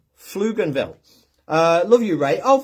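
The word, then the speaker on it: Pflugerville: I was in Dallas in a place called Fluganville. Is that how you It's spelled with a P, but it's pronounced Fluganville.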